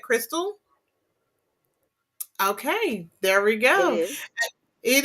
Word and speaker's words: Krystle: pronounce your name correct because it's k-r-y-s-t-l-e is that Crystal okay there we go